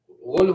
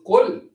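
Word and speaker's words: قل: He was saying like this: "Ghul huwal ghul, ghul huwallahu ahad, Allah ghul." If you say ghul, this is qul, but he said ghul huwal.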